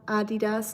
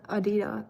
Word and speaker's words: Adidas: Also, it's called Adidas, not Adidas. Adidas um or Adidas or whatever Americans say.